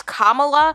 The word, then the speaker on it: Kamala: The teleprompter said, comma, as in like a comma after, you know, a point in a sentence or whatever, to pronounce Kamala.